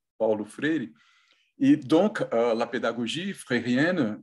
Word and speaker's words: Paulo Freire: Parmi ces efforts d'une éducation critique, je peux citer bien sûr Paulo Freire, et pardon, mais je voudrais prononcer son nom en brésilien, Paulo Freire.